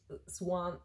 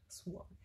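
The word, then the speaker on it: Siuan: Ich habe den Namen echt ewig lang falsch ausgesprochen, weil ich meine, der wird ja Siwan geschrieben, also aber Swan gesprochen. Swan.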